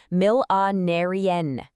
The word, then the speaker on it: millenarian: Another advanced peak performance word is millenarian, pronounced mill-a-narian.